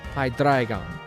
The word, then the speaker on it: Hydreigon: Dino, Zweiles, Hydreigon. That's how I pronounce those. You pronounce them differently, perfectly fine. I don't care. But that is how I pronounce them. Because German.